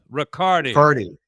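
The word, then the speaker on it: Ricaurte: This might have been around the around MDMA, where there was that fellow George Rica- Ricautra. Is that how you pronounce his name? Riccardi. Riccardi. Yeah, like I like like Bacardi, but not as fun, right?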